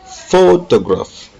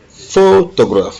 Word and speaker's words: photograph: In number 22, the stress is on the first syllable. Photograph. Photograph. Photograph. L'accent est mis sur le faux.